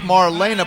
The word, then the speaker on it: Marlena: Center June 24th Marlena it's Marlena it's like one two three Marlena's just like the Wallflower song would you get people's